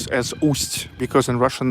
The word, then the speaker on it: Ust: it's with the first with a soft sign you have to pronounce it not not in a hard way waste means i already